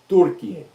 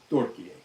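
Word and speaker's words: Türkiye: You say it, Turkiye. Yakaza, did I say it right? Turkiye. That's how you say Turkey, the country of Turkey, in Turkish. You say Turkiye.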